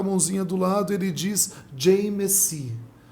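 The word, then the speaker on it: Jai Masih: Mas quando ele se converte no Nepal, ele coloca a mãozinha do lado, ele diz Jai Messi, Jai Mashi. Aí a pronúncia é Jai Messi, que significa eu te saúdo pela vitória de Jesus na cruz.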